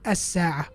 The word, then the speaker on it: الساعة: the lam and we go straight to the sin. As-sa'a.